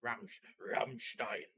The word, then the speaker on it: Rammstein: rammstein is that right how you pronounce it properly in german ramstein you always have to say it like that because it's that's how they say isn't it uh so